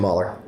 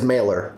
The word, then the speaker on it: Mahler: Mahler he said Amadeus I was talking about the the pronunciation of Mahler because I I was about to read it as mailer but I think earlier we said it was Mahler I know we're gonna